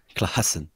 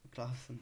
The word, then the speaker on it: Klaassen: champion de la prononciation, donc je préfère. Oui, c'est vrai. Ouais. Vas-y, comment tu dis? Redis. Klaassen. Klaassen.